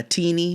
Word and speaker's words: Tennie: They call her Teenie, but it's spelled Tennie.